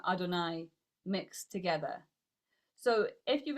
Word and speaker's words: Adonai: We pronounce it as Aleph Daled Nun Yud Adonai.